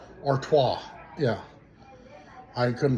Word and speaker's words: Artois: Arttois. Yeah, I couldn't pronounce it yesterday. I was like Artoice I don't know but it was yes Artois.